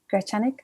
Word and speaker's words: Grechanik: the peruvian amazon and his name is gracianic hope i pronounced it well i'm sure you will